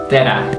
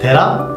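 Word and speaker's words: Tere: It's Tera. Tera?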